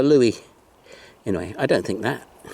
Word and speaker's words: louis: a stinking lincoln a something that rhymes with louie phooey it's a louis anyway i don't think